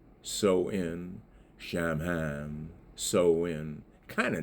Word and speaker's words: Samhain: And they say the sew in, you know, pronounced so in shaman.